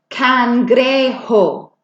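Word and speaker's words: cangrejo: interesting one or crab can gray ho look at that word and really pronounce every strange letter in there can gray hope that Jay makes an H sound can I get Maddie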